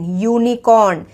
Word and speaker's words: unicorn: एन यूनिकॉर्न लगा देंगे, लेकिन इसका जो प्रोनाउंसिएशन है वो भी य से, य यू की मात्रा यू से हो रहा है इसका प्रोनाउंसिएशन, इसीलिए इसके सामने हम अ यूनिकॉर्न लगाएंगे। ये जो य है ये एक कॉन्सोनेंट का साउंड है, वाई का साउंड है, वाई का हम